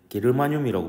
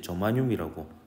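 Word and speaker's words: germanium: 그리고 이제 어 옛날 사람들은 이제 게르마늄이라고 배웠는데요. 요즘은 이제 저마늄이라고 발음이 바뀌었습니다. 원소 기호로는 G이죠.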